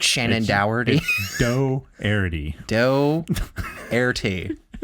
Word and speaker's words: Dougherty: Like Shannon Dougherty. Dougherty. Dougherty. Like a dough, like bread. Yeah, exactly. Because that's how it's spelled.